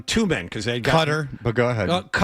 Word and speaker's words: Qatar: Qatar had no chance but yeah it was it uh got challenged from behind.